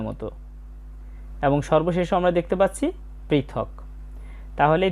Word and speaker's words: সর্বশঃ: পদে আসচ এরপর আছে সর্বশ শব্দের শেষে বিসর্গ থাকলে অর্ধেক হ এর মত উচ্চারণ হয় সর্বশা এবং শেষে রয়েছে